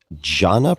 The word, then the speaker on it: Jhana: Jhana practice. Am I pronouncing that correctly?